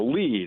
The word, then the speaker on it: lede: And so just so all of the listeners know, lead is the first paragraph that's supposed to get your attention when you read an article. That's journalism jargon. LEDE, I think is the way it's spelled.